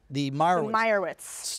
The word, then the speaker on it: Meyerowitz: Say it for me. The Meyerowitz. Yeah, yes. There's a little O in there.